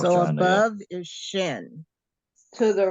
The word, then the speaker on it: shin: This dot has to do with how you would pronounce it. Over here, it would be a sh sound. Over here, it would be like a S sound.